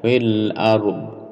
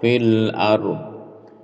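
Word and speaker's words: في الأرض: Huruf 'd' di sini terdengar rendah, lho. 'Fil ard', atau setengah. 'Fil ard', artinya jangan biarkan bunyi 'd' menghilang. Jadi, pengucapannya masih harus sedikit berbeda.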